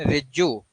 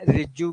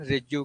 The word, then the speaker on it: रिजिजू: तो किरण रिज्जू, याद, जैसे मिनिस्ट्री ऑफ पार्लियामेंट्री अफेयर जो है वो किरण रिज्जू के पास, श्री किरण रिज्जू के पास, रिजिजू, सॉरी मैं गलत बोल रहा हूं तो प्रोनाउंसिएशन रिजिजू, ये इनके पास है।